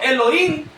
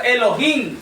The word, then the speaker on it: Elohim: Porque si dijéramos solo Elohim, no se toma en cuenta en lo absoluto la H. Pero si tomamos en cuenta la H se se pronuncia Elohim.